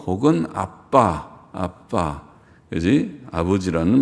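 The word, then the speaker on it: אבא: 아버지라는 날인가 알아 뭐 발음은 아빠 아빠 우리말의 아빠 랑 비슷한데 우리는 아빠는 애기들이 빠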